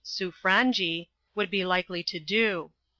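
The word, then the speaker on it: Sobranie: or Radiavitch, as it should be sounded, the foreign secretary, on what the Sobrangi, it is pronounced Sufrangi, would be likely to do.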